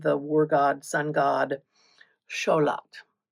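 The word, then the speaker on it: Xolotl: war god, sun god Scholat, which is which is spelled with an X like you'd think it would be.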